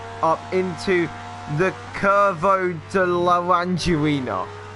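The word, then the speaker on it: Laranjinha: It's a really awkward onboard, but through turns 4 and 5, Brumadinho does go up into the Curvo de Laranjerina. It's like Orangina, but Laranjerina.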